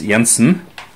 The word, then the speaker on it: Jansen: well CH Jansen is well probably it's pronounced CH Jansen but this is Norwegian so it's yansen clearly a Norwegian or